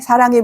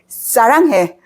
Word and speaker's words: 사랑해: But a lot of foreigners, they say 사랑해 like this. Because I told you, 스 before vowel is pronounced more strongly. But Korean 스 sound is a softer sound. 스, like 스 in smile. So before a consonant. So this is 스, so 사랑해. Not 사랑해.